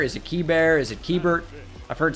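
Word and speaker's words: Keibert: his name pronounced because it's like is it k bear is it key bear is it keybert i've heard so many different things but k bert ruiz seemed to be what was said and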